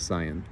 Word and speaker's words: scion: part the different variety you'd usually call your cion or cyan I've heard some people pronounce it cyan and as you can